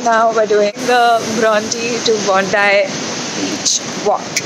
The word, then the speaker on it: Bronte: I've been saying it wrong the whole time. My cab driver corrected me. It's actually Bronte. I thought it was Bronte.